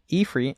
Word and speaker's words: Ifrit: So I've always called it Ifrit, though, my whole life. It's one of those things where you never hear it pronounced, and then once you do. Mm-hmm. But seeing that the etymology is actually like, it's spelled Ifrit, you're like, okay, well, it's Ifrit then.